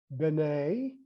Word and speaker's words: B'nai: He talks to us about, and other writers talk to us about these words, these Syriac words, B'nai, B as in boy, N-A-I, and Banat, B-N-A-T, Banat, Kiyama, Kiyama.